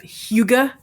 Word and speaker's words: Hygge: Hugo. Hugo. You pronounce it Hugo.